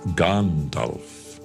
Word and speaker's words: Gandalf: And it's Gandalf, not Gandalf. It's Gandalf. It is Saruman. It is Theoden, not Theoden.